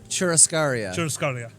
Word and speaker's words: churrascaria: You're better at pronouncing things. Churrascaria? Churrascaria.